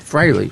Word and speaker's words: Frehley: Frehley. I always spell it wrong.